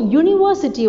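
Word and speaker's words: university: ஏன் அப்படின்னா, இப்போது யூனிவர்சிட்டி வந்துட்டு நம்ம எப்படி சொல்கிறோம் ப்ரொனன்சியேஷன் அப்படின்னா, YOU, அதுக்குரிய ப்ரொனன்சியேஷன் தான் கொடுக்குறோம். இட்ஸ் நாட் நம்ம வந்துட்டு யூனிவர்சிட்டின்றது Y-ல ஆரம்பிக்கிற மாதிரி தான் ப்ரொனவுன்ஸ் பண்ணுறோம்.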